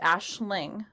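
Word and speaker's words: Aisling: knew a girl named Ashling which that's the really popular name out there and it's spelled a i s l i n g and so the AIS made an ash sound and she really liked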